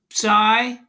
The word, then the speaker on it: psi: Here's the Greek letter, and it's pronounced psi, but the spelling is psi, but this is